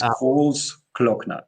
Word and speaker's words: Großglockner: This is Großglockner because the O is spelled longer.